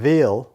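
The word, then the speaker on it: Wyhl: There was a proposed nuclear power plant in Wiel, they pronounce it, where the local farmers built a nonviolent resistance movement that actually stopped that power plant.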